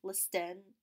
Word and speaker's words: listen: There's some words with silent letters, such as listen, listen, or debt, debt.